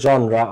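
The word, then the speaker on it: genre: এটাকে কিন্তু জেনরি বলে না, তোমরা এটাকে জেনরি বা জেনরা বলো বা জেনার বলো, তো এটা জেনরিও না জেনারও না, ঠিক আছে, জেনরিও না জেনারও না, এটা কি জনরা, জনরা, ঠিক আছে, জনরা, জনরা, ঠিক আছে, এটা উচ্চারণ।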